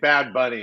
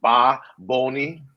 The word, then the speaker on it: Bad Bunny: I was saying Bad Bunny, and he was getting mad at me. No, he was like Ba Boni.